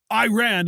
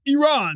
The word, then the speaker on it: Iran: say to Tyler Adams, it's not Iran, it's Iran. You don't know how to pronounce it.